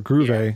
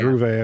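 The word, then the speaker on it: Grewe: it's Alban gravy or groove a it's actually proved a I believe alright yeah it's it's almost like groovy but it's from what I understand it's groove a her groove a I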